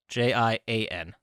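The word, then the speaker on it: Gonjiam: Gojian Haunted Asylum. No. Spell it? Gonjian.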